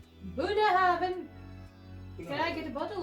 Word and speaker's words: Bunnahabhain: Bunnahabhain. Bunnahabhain.